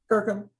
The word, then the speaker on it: Kirkham: So now, Kirkham, am I pronouncing that right? Yeah, Kirkham.